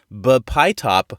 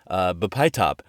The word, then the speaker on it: bpytop: as well, and the name is a little bit hard to pronounce. It's bPYtop, I think. bPYtop. B, capital P-Y, lowercase T-O-P.